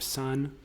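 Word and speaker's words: Сон: Um, he also did a project called Soy Song collaborating with Ivan Pavlov of the group Sun. Uh it's it's spelled C O H but it's it's cerrillic.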